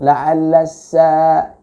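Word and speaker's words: لَعَلَّ: La'alla sa'ata, la'alla itu Anda kepanjangan membacanya ya, lebih daripada dua ketuk, lebih daripada 2 harokat ya.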